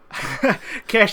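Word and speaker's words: Khash: Cash is a place. Okay. It's spelled K-H-A-S-H.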